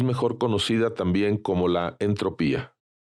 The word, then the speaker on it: entropía: conocida también como la entropía, aunque reconozco que en ocasiones la pronunciación es entropia. En lo personal, como lo aprendí como entropía, me cuesta trabajo mencionarlo como entropia.